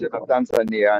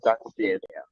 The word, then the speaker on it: Tanzania: No, but I hear it called both ways. Okay. No, you recall both ways, Tanzania and Tanzania.